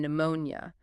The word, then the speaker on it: pneumonia: Words like pneumatic and pneumonia. They came through Latin from the Greek word for wind or breath. Modern French speakers still pronounce the initial P, but English speakers abandon it.